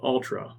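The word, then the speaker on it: Altra: but if you're not it sounds like Ultra as an ultra marathon but it's spelled differently it's spelled a l t r a and there were two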